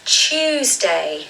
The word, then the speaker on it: Tuesday: So you'll notice here that it is not a T sound. It is more of a CH sound. So you'll probably remember this from my pronunciation hacks video a few weeks back. But really, the word is Tuesday. You just say the word choose and then day.